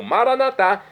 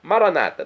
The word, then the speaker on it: maranatá: Por isso eu clamo maranatá do dialeto de Jesus, o aramaico, que significa vinde, Senhor Jesus. Vem, Senhor. Nossos irmãos separados das comunidades evangélicas ou protestantes dizem maranata. Não importa a pronúncia, significado é o mesmo.